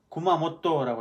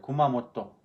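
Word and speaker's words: 熊本: 구마모토라고 그래요. 구마모토. 그 일본말로도 구마라고 발음을 합니다.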